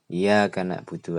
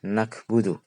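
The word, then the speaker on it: نعبد: Demikian pula ketika kita membaca na'budu, iya karena na'budu pakai ain, karena tidak pernah belajar bacanya nakbudu pakai kaf, itu artinya adalah sakit limpa.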